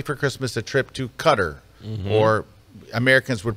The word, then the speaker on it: Qatar: wife got me for Christmas a trip to Qatar or Americans would pronounce it Qatar but uh anyway I've decided not to go